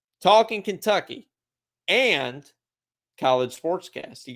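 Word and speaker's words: Talkin': Talkin Kentucky.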